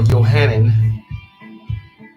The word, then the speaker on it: Yohanan: So the name was Yohanan.